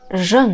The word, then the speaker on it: jeûne: 呢是 jeûne，而法语当中表示年轻的单词是 jeune。这两个单词呢，只有一个音标的差别，发音非常接近。